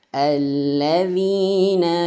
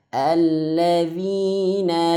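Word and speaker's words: الَّذِينَ: Alladzina. Nah, ini biasa ya, 2 harokat. Dhi, masih ingat huruf dal, lidahnya dikeluarkan sedikit. Dhi. Atau lebih tepatnya ujung lidah menyentuh ujung gigi seri atas. Alladzi. Alladzina yu'minuna.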